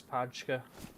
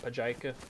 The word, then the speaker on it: Pajka: I only just recently learned how to pronounce Pajka in the game. I just kept calling it Pajika.